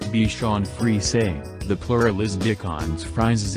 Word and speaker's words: Bichon Frise: The Bichon Frise, pronounced Bichon Frise, the plural is Bichons